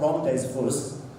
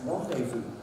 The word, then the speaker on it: rendezvous: It's not rendezvous, it's rendezvous.